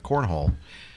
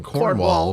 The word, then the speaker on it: Cornwall: You were on holiday in Cornhole. And Cornhole. I think that's how it's pronounced.